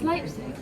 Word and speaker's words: Leipzig: Pronounce the second vowel sounding rather than the first. So it's I is after the E, isn't it? So I was also doing when you're pronouncing things. It's Leipzig.